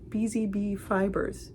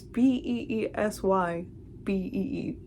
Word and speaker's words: BeesyBee: BeesyBee Fibers it's B E E S Y B E E.